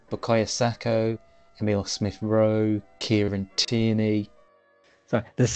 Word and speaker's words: Bukayo Saka: He's not Sacco. He's Saka.